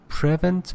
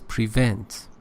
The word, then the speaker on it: prevent: Again, you said prevent, but it is prevent, second syllable.